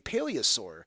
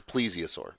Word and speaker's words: Plesiosaur: Many speculated that the creature could be a Plesiosaur, a marine reptile that went extinct about 65.5 million years ago. Did I pronounce that name of that dinosaur correctly? You did not. It's Plesiosaur. Plesiosaur.